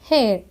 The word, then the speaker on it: heir: It is a noun and it is pronounced as hair.